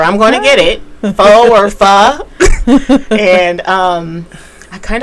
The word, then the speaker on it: pho: You've never had One of pho.